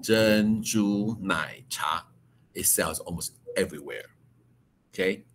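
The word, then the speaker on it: 珍珠奶茶: It in Chinese pronounced Zhen Zhu Nai Cha.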